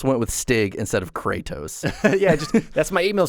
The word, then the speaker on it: Kratos: to the column and fun fact it's actually pronounced kratos fun fact for the day guys that's it